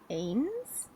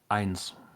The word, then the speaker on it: eins: It's eins. That's what I thought. Eins. Yep. No idea why they went with AY, which is Yeah, traditionally not said that way.